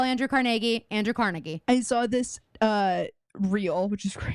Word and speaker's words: Carnegie: All the Love You museums that we have, and explaining them and going through them and explaining to people how you say Carnegie and it's not Carnegie, and all these.